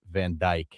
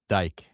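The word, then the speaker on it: Van Dijk: By the way, that player, that soccer guy, it's pronounced Van Djk. Dyke.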